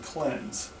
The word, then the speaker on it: Klenz: website by searching for the keyword cleanse that's spelled k-l-e-n-z the clean shower in